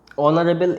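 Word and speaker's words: honourable: অনার, তারপর সেরকম একইভাবে এই যে ওয়ার্ডগুলো অনেস্ট, অনারেবল, এই ধরনের যে ওয়ার্ডগুলো, এদের উচ্চারণ, এরা এইচ দিয়ে শুরু হলেও এদের উচ্চারণটা মেনলি কী দিয়ে আসছে, ভাওয়েল উচ্চারণ, ঠিক আছে।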